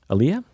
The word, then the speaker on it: Aaliyah: Aaliyah? Is that how you pronounce her name?